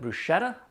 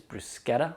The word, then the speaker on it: bruschetta: Some people call it bruschetta, but I think the actual correct pronunciation, although I am not Italian, is bruschetta. That's the way I've always pronounced it.